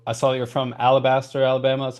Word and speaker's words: Alabaster: for the show, I saw that you're from Alabaster, Alabama. That's how you pronounce it.